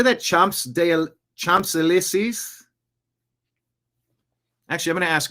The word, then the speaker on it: Champs-Élysées: Champs-Élysées? Actually, I'm going to ask Grok. Check this out. You got to be using AI. Pronunciation. Champs-Élysées. Champs-Élysées. Champs is Champs. Élysées is Élysée.